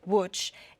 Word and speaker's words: Łódź: In Poland, and what he was able to do was they broke into one of the ghettos in Łódź. It's spelled Lodz, but Łódź, and saved about 50 families.